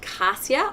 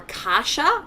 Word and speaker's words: cassia: Siberian fur and get cassia or kasha depends on how you say it for free now I